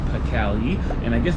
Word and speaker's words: Pkhali: This is called Pkhali, and I guess the proper pronunciation is more like Pkhali. It's a bit of almost like an Arabic sort of sound effect there, which I'm not very good at making.